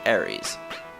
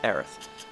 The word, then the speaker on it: Aerith: In the English version, she's called Aeris. In the Japanese version, her name is pronounced like this, Aerith.